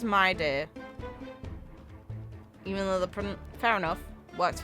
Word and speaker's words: Mydei: A moment of divine insight arises from enduring Okay, so they pronounce it as mydei.